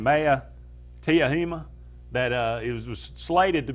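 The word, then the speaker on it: Maea Teuhema: Maya Tahuma is that's how you pronounce it.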